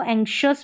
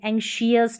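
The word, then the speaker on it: anxious: इसको आधा क और श, आधा क और श जैसे ये आ रहा है यहाँ पर। इसको एंक्शस पढ़ेंगे, एंशियस नहीं पढ़ेंगे, एंक्शस पढ़ेंगे, एंक्शस।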